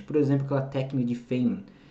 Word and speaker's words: Feynman: Por exemplo, aquela técnica de Feynman. Devo estar pronunciando esse nome errado aqui. Sim, Tarcísio, você está pronunciando a forma errada. A forma certa é técnica de Feynman.